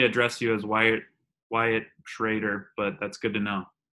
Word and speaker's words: Schroeder: Cameron Crowe here and Wyatt Schroeder traitor it's pronounced traitor traitor great but plainly confusing because it looks so